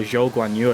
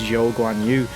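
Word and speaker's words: Zhou Guanyu: who is above also guanyu or jogwan you i should say sorry i'm sure that is how you pronounce his name it's joe go on you not the other way around but like i say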